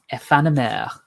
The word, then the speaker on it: Aephanemer: Well, it apparently does appeal to Dan because he would like to know how it is spelled. It's AEPHANEMER. Ephanomère.